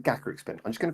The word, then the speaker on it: Gacharic Spin: It comes from gacha as in like the gachapon machines, so it's Gacharic Spin, which makes sense as well for the spelling.